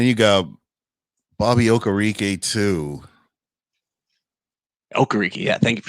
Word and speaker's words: Okereke: Okereke, yeah.